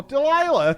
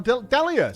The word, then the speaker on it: Delia: get towards the island oh deila thank you so much or Delia sorry I said your name wrong thank you so much